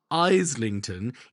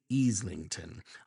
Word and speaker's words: Islington: It's not Islington, it's Islington.